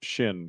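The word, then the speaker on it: Xin: and he said that it's pronounced shin because there's no zin in the Chinese language. That's true. It would be shin.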